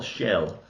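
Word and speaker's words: Schell: Malini Dietrich and what is how do you pronounce his name Maximilian Shell Shell yeah great great great great talent Montgomery Chris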